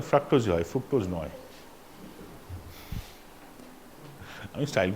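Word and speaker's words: fructose: যেমন ফ্রাক্টোজ, উচ্চারণটা ফ্রাক্টোজ হয়, ফ্রুক্টোজ নয়।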